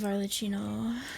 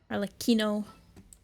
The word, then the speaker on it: Arlecchino: I love Arlecchino, even though I say your name wrong because I like the ch instead of the k. Arlecchino.